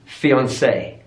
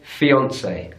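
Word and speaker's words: fiancée: syllable massage massage massage here's a loanword from French now with loanwords from French often American English will stay with the original stress pattern so it will be fiancee fiancee stress on the final syllable in British English we say fiancee fiancee so stress on the middle syllable their fiancee I've always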